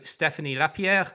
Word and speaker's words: Stephany Lapierre: such as Gartner and and spend matters so Stephanie lapier welcome to the procure Tech podcast thank you for having me and pronouncing my name correctly thank you well yeah